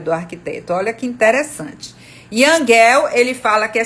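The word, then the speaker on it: Jan: livro de aluguel né se escreve Jam mas se fala Young é um cidade para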